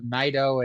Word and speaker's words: Naito: Yeah, it's Naito and Ishii. Ishii is kind of hard to say though. I'm probably guilty of just saying Ishii at times. I think Naito because like I don't know, just like I feel like you're supposed to say Naito and put in that extra syllable in the middle there. And I did for years, but it's I don't know, I finally got in the habit of calling him Naito.